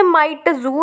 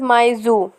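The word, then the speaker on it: Mi Tzu: इसे माइटजू नहीं बोल सकते, इसकी प्रोनाउंसिएशन है मिसेस माइजू, जो कि लैंड लेडी होती है।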